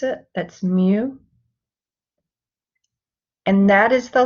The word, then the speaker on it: mu: i'm going to write beneath it how to pronounce it that's mu and that is the letter that we use